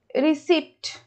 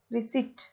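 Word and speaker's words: receipt: कले यदि हमरा आस्थांता रिसिप्ट ओके री एस एन टी रिसिप्ट एठी p टा silent रहउची सो इट रिसिप्ट okay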